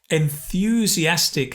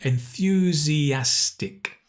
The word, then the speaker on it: enthusiastic: Enthusiastic has the N-th sound. Enthusiastic.